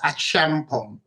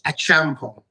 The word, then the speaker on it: Acheampong: So my surname is Acheampong. It's actually pronounced the way it's spelled. It's Acheampong.